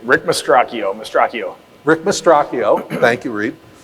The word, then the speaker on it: Mastracchio: Now, how do you pronounce Rick's last name? Rick Mastracchio.